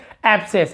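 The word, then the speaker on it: abscess: साथ सी हो, तो हम केवल एस का उच्चारण करते हैं, यहाँ पे सी को अलग से नहीं पढ़ते, ठीक है।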